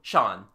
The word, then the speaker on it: Jean: he goes to AA the local pronunciation turns jean into Shan he is called Shan matu our man offers no